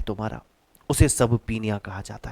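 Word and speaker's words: subpoena: अगला वर्ड आ गया है सब पीनिया। अगला वर्ड है सब पीनिया। अगला वर्ड है सब पीनिया। इसका प्रोनाउंसिएशन थोड़ा सा अजीब सा है, सब पीनिया।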